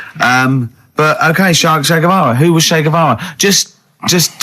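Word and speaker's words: Guevara: Shay is like shake and his his surname is like guitar, right?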